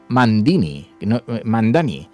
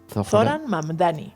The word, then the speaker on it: Mamdani: Y hay un gran favorito, este candidato, Zoran Mandani, hasta que yo aprenda a pronunciar correctamente esto, porque es Zoran Mamdani.